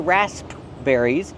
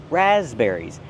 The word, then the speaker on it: raspberries: The S makes a Z sound like in zebra with a voice, Z, raspberries. What about the P? The P is silent. We do not say raspberries, it's raz. Make the voice with the Z, raspberries.